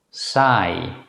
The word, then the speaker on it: saai: This vowel should normally be easy for English speakers because it's the same as the pronunciation of the letter I in English. Let's look at 3 example words. Sigh, mide, nide.